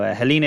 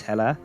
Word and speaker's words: Helena: that end in a so helena is not actually helena she's hella and we have ezra